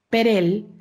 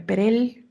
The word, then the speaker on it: Perel: la h intermedia y su apellido es perel eh Cómo se escucha con una r perel terminando con una l ella es de Bélgica